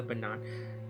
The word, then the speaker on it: Bernard: Bernard. Bernard? Bernard? Okay, guys, how do you pronounce this? Bernard? Bernard? Bernard. It's Bernard, right? It's pronounced Bernard, right? It's not Bernard, right? It's not nerd, it's Nard.